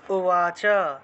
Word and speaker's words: উবাচ: শ্লোকের উচ্চারণ কিভাবে হবে অর্জুনা উবাচা কারণ অন্তস্থ উবাচের অন্তস্থ উবাচের বট এটা হলো অন্তস্থ সেজন্য উবাচা অর্জুন উবাচা তারপরে সন্ন্যায় সস্য